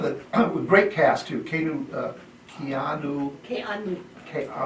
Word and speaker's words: Keanu: Keanu. He has a Hawaiian name, for Pete's sake. You have to pronounce all those vowels.